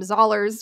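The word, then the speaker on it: Zollars: the name of William zers which rhymes with dollars which makes him seem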